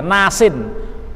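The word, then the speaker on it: ناسين: Sebetulnya bacanya nasiun, ya. Tapi dibuang huruf akhirnya, nasin.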